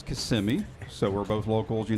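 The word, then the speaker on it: Kissimmee: Central Florida please realize it is not kiss and me it is KMI so we're both locals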